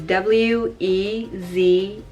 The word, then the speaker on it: Wezi: Wezi is the next name, which is W-E-Z-I.